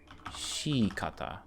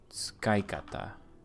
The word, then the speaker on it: 使い方: Shikata. That doesn't sound right. Tsukaikata. This is tsukalos, right? 使い方 Yes, tsukaikata. Use is pronounced shi.